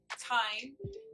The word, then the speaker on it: thyme: herb that i picked is called thyme the h is silent the nutritional source of